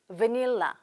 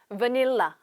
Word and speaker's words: vanilla: 자, 첫 번째 나오는 바닐라 발음해 볼게요. vanilla. vanilla.